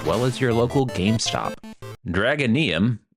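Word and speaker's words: Dragonyhm: as your local GameStop dragonium again that's how I think it's pronounced is a welldone love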